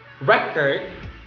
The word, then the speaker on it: record: record so using record if the stress is in the first syllable it means to it means it means the function is noun so the document itself you say record if the stress is